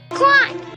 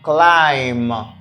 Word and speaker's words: climb: word is pronounced like climb climb here we have climb the letter B is silent we say climb not